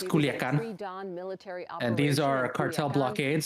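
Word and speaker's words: Culiacán: Mexican authorities It's Culiacan.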